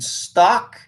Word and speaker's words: Stauch: Second pronunciation, stock.